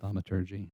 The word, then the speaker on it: Thaumaturgy: You guys are I'm gonna butcher the pronunciation of it again. Thaumaturgy. Thaumaturgy.